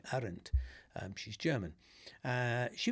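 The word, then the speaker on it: Arendt: Her name, by the way, is is spelled A R N D T. Arent.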